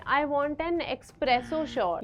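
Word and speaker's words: espresso: है I want an एस्प्रेसो short you mean एस्प्रेसो short यह तो बहुत ही ज्यादा कॉमन है एस्प्रेसो नॉट एक्सप्रेसो there is नो एक्स इट्स एन एस सो for example I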